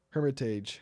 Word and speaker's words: Hermitage: you spell it hermit I said hermit Berg sorry Hermitage Hermitage Tennesse there we